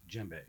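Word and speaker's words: djembe: pronounce your instrument it's jembe gembe so the D is silent no I know I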